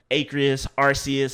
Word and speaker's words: Arceus: But we're getting a open world Pokemon style game and a Pokemon Legend of Arceus, however you want to say the legendary's name.